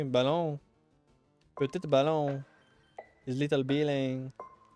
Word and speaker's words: ballon: Let's start pronouncing ballon like salon, but we replace the S with a B. Ballon.